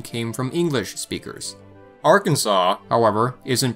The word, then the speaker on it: Arkansas: came from English speakers Arkansas however isn't pronounced Arkansas because it was named by the French and retained this original French pronunciation a little bit like